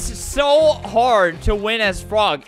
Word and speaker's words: Frogge: anyways there's frog frog frog it's actually it's pronounced frog by the way i was in the uh